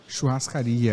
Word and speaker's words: churrascaria: It's like a churrascaria. Churrascaria. Is that how you pronounce it, right?